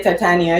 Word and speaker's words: Titania: uh directorial release and it's i do play titania you're right it's the name of the character